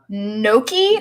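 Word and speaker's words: gnocchi: a pasta that's made out of potato it's no key naki it's spelled with G G in OCC H I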